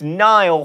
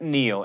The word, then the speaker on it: Niall: dollar sign its Ke$ha its Niall Horan not Neil and for those of